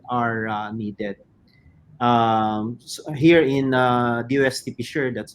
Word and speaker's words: PCIEERD: Here in DOST PCIEERD, that's how we pronounce the acronym of our agency.